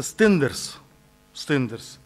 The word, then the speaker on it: Stenders: Поэтому поздравить хочу компанию, правильно произносится, Stenders.